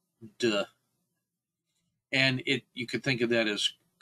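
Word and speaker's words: 德: And when you are in a state of wu wei, you generate what an aura of, it's pronounced duh.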